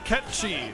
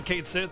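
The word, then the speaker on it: Cait Sith: Ketchi, it's a Gaelic word. That's how you pronounce Kate Sith or whatever. Like people say Kate Sith, but it's Ketchi.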